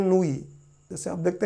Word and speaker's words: Noyce: तो अब इंग्लिश का प्रोनाउंसिएशन है, हम लोगों को पढ़ना पड़े तो हम बोलेंगे कि नोइसी है, लेकिन किताबें उसका प्रोनाउंसिएशन करती हैं नूई।